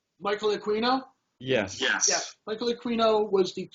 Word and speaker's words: Aquino: High up in the satanic community, is it Aquino? That's how you say his name. Michael Aquino?